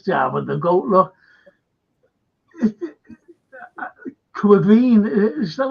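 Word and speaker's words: Caoimhín: Look, Quivine, is that how you pronounce his name?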